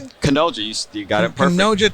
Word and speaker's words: Canoja: Canoja.